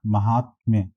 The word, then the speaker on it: महात्म्य: महात्म्य का सही उच्चारण जो होता है 40 का हो जाएगा सी पार्ट, महात्म्य।